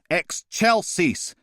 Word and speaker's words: excelsis: It's pronounced excelsis.